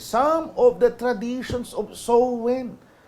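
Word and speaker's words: Samhain: a m h a i n ang pagkaka pronounce po a soen when people would light bonfires and wear costumes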